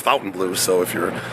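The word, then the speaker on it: Fontainebleau: you want to say I think it's actually pronounced Fountain Blue so if you're saying it differently it's Fountain Blue I did a little research on that today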